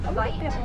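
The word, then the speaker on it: wyd: It is a mispronunciation of the Afrikaans word "weit," meaning wide, and that is in reference to their upper lip.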